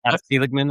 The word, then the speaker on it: Seligman: I think I'm pronouncing your last name right. That's right. Seligman, okay.